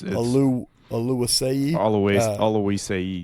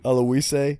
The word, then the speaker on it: Oluwaseyi: How do you pronounce his name? Yeah, I know. It's Oluwaseyi. Oluwaseyi.